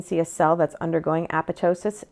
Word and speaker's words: apoptosis: of signal transduction is aptosis. Um I used to think it was apoptosis. I was incorrect. It is aptosis. The second P is silent like in pterodactyl like the P in pterodactyl.